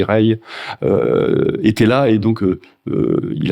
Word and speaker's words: Régis: et Ray et Régis, je sais jamais si on dit, ça s'écrit Régis, mais je crois que ça se dit Ray, était là, et donc